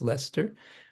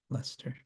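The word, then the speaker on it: Leicester: um iscon leester which is spelled ler it's pronounced Lester it's like l e i c s t r Lester um okay whoops what am I doing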